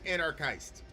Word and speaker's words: anarchist: So he goes, I am an antichrist and I am an anarchist. Which is I like what he did there. So he accented anarchist to rhyme with antichrist.